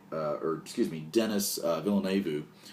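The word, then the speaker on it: Villeneuve: or excuse me dennis villeneux uh villane vu i believe is how you pronounce his name um very talented filmmaker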